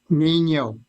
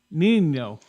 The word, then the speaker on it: Nino: Nino. Nino. Nino. Like a storm. El Nino.